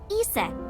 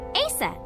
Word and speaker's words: Isis: Horus's mom is named Isis, but in ancient Egyptian, it's pronounced closer to Iset or Aset.